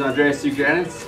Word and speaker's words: Andreas Tsougrianis: Say your name so they all know how it's pronounced, number one. What's up, guys? This is Andreas Tsougrianis, aka.